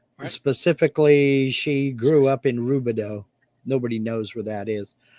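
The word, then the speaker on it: Rubidoux: flant isn't it pronounced robito uh we called it rubber ducks r o u b i d o u x you spelled it with u it's a French name yeah I was gonna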